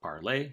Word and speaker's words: Parler: Well, I mean, like we saw people start to move to Parler or Parlay, if you wanted to pronounce it properly. It's a French word.